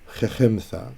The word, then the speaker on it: Khechimtha: Khechimtha. So the chet softens the cap, that's lama, khech, and then there's a half vowel here.